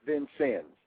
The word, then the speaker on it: Vincennes: Air Force Academy, Indiana State University, and forgive me if I mispronounce this, but the Vincennes, am I getting that correct? It's Vincennes.